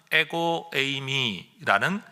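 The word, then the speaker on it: ἐγώ εἰμι: 그 중에 대표적인 예수님의 어법 표현이 헬라어로는 에고에이미라는 표현입니다. 따라 하십시다. 에고에이미. 이걸 또 에고 이렇게 발음하시면 안 됩니다.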